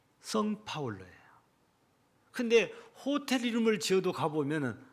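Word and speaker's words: São Paulo: 해서 가장 큰 도시는 우리가 보통 사람들이 발음할 때 생파울로라고 해요. 생이라고 발음하는 사람 있고 그냥 성파울로라고 발음하는 사람도 있고 그래요. 근데 본래 영문 포교로면 앞에 성자예요. 성파울로예요.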